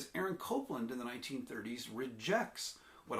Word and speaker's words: Copland: Copland, pronounced Copland.